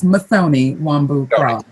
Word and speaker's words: Mutoni Wambu: her now uh sister mutoni wambu crowl system i'm pronouncing your name correctly it's very close masoni wambu yeah thank you thank